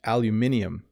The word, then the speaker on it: aluminium: Americans say aluminum. In the UK, they say aluminium.